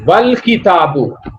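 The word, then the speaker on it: والكتاب: Here Hamza of wal kitabu will not be pronounced because Hamza is preceded by wa, and wa will directly meet lam. Wa has to meet lam and you will pronounce it wal kitabu.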